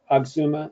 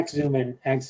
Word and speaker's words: Axumin: But as you know, Oxuma is FDA. Let me just You're talking Yeah. about Axumin, I think. Yeah, Axumin.